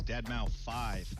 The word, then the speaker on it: deadmau5: is your good friend joel professionally known as deadmau5 yes that is the correct way to pronounce and tell your friends we're here to